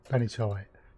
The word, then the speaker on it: Benitoite: How you pronounce it? Yeah, Benitoite.